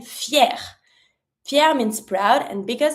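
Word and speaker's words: fière: for the masculine, and if it's feminine, you can add your feminine e, but don't forget to put a low accent on the first e. But, it's the same pronunciation. Fier, fier.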